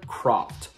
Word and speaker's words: Croft: the writer's name her name is rachel kohler croft not rachel kohler craft bria grant the director